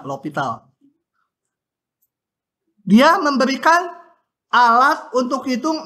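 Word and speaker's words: L'Hôpital: yang namanya Aturan ini bacanya lopital Ya ada yang nulisnya pakai S Hospital gitu enggak tahu tuh buku macam-macam nama sebenarnya enggak tahu karena orangnya juga meninggal t bacanya lopital Hnya enggak kebaca lopital dia memberikan alat untuk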